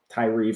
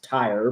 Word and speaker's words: Tyre: Also, Tyre finds its way into the Bible. Most people would pronounce it Tyre, but Tyre, I think, is the traditional pronunciation.